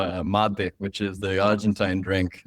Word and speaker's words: mate: But it's mate. It's our most iconic beverage. Really? And what is it called? What's it called? It's called mate. It's called spelled like mate.